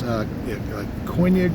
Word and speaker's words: Koine: It's Koine Greek or Koine Greek, and the name for Jesus in that